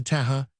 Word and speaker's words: Taha: Before we were aware, we were close in to Taha, pronounced taha, with equal accents, and tee was grinning approval of the vahin's proficiency at bailing.